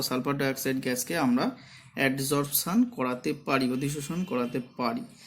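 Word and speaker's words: adsorption: এইখানটা কিন্তু খুব ইম্পর্টেন্ট ভাবে মনে রাখতে হবে যে অ্যাডজর্পশন, আর শোষণটা হচ্ছে অ্যাবজর্পশন। উচ্চারণগত একটা বিরাট ডিফারেন্স রয়েছে।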